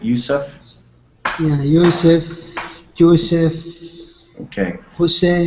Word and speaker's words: Yusuf: And I am pronouncing your name properly, is that right? Yusuf?